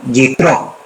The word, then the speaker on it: Yitro: En hebreo se pronuncia Yitro, que significa su excelencia.